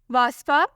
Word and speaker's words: Wasfa: नाम है वास्फा, स्पेलिंग है WASFA।